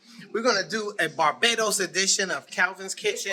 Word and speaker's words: Barbados: It's Barbados, not Barbados. It's Barbados. Ladies and gentlemen, first of all, let me introduce you to Claire. Because this is... There's Claire. How do you say it, Claire? It's Barbados. It's not Barbados. It's Barbados. Barbados.